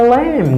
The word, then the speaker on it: lamb: Look at my lamb. Gade si mouton na. Okay. This is lamb. M'bagay lamb, but m'gain lamb. Parce que let B à la lui-même, li pas prononcer nan mot ça.